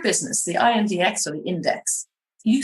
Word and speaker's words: INDX: Is that how I'm pronouncing it correctly? Or do you say INDX? Yes. Index? Yeah, Index.